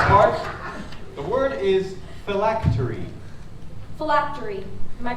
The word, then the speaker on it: phylactery: Phylactery. Am I pronouncing that correctly?